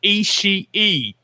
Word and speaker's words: Ishii: you listen to the crowd when they're chanting Ishii. Ishii. That is his last name. That's the way you pronounce it.